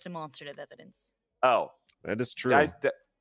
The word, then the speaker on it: demonstrative: the court I don't need it's called It's pronounced demonstrative evidence oh that is true demonstrative I'm just trying to Simply prove to the